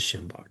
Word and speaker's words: Shinbach: But, you know, just for the listeners, it's spelled S H I N B A C H. And it is Shimbach.